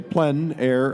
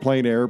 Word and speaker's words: plein air: outdoors or the open air the French say plenn air others pronounce that plein air but no matter how you say it it's